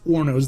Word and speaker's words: hornos: are ornos okay now it may look like hornos it's ornos the h is silent but autoclaves are ornos they cook the same